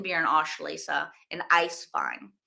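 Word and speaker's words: Eiswein: and Ash lasa and Ice fine ice fine being spelled e i s w i n The W is pronounced like a v in Germany so um Tren also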